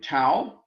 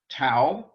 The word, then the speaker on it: tau: think those no we have one more um tau the t sang sound tau is our next